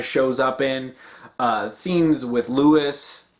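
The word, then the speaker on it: Luis: up in scenes with Lois or I should say Lewis is how Leon pronounces it needs dying he's like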